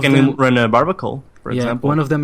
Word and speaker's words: Barbaracle: You can run a Barbacle, for example. One of them is the Barbaracle, or what's the name? Barbaracle. I think you said it right.